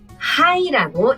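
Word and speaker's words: はい: 이거는 원래 단어인 거죠 그러니까 하로 그대로 읽어서 하이 하시면 돼요 비상이 김 씨예요 그러니까네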